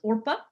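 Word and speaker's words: עָרְפָּה: Accents tend to fall, or the stress tends to fall at the end of Hebrew words, Orpa.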